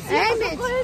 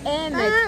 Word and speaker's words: Ӗмӗт: Эмедь, ударение Эмедь. А, простите меня. Чего запомни, здравствуй всегда, ударение на Эмедь, на первое. Эмедь. Если ударение ставить неправильно, получится плохое слово на чувашском.